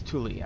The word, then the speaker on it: tule: And there's some tule. I learned how to pronounce this. It's tule.